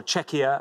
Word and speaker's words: Czechia: So we have Czechia or Czechia, as we sometimes pronounce it, versus Martina Navratilova.